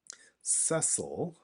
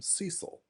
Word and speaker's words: Cecil: Cecil, when I was a kid, I called him Cecil.